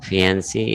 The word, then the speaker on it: fiancée: So fiancé is male. Both are pronounced as fiancé, but there is just a difference in spelling.